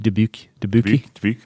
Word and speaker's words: Dubuque: Dubuque, It's just Dubuque, isn't it?